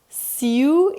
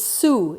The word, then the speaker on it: Sioux: Sioux is Sioux in English, but the French pronounce it Sioux.